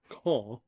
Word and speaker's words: Caen: So, but anyway, we spent about, I think it was 8 days in Caen, is how the French pronounce it.